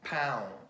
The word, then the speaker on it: pão: So we got the aum, which is spelled A and a til and O. So this is quite common in Portuguese. So like pão, bread, now, no.